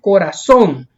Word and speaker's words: corazón: Miren, aquí tenemos corazón. Lleva la mayor fuerza de voz en la última sílaba, por eso se tilda porque termina en N.